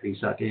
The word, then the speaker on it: psake: I think everyone pronounces it PSAKI.